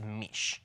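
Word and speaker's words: mici: So I think it is meech. Me. Okay. Me. But it's spelled m i ci.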